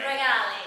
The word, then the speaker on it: Rigali: say it she wanted me to get that pronunciation right regali um Greeks don't do too well pronunciations um